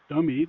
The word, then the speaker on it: DOMI: And to be fair, the two in the middle, TOTP and DOMI, or dummy, depending on how you want to pronounce it, are not tasks.